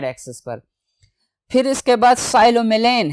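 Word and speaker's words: psilomelane: पर फिर इसके बाद साइलो मिलेन है साइलो मेलेन स्टूडेंट्स प यहां पे साइलेंट है साइलो मेलेन बेरियम है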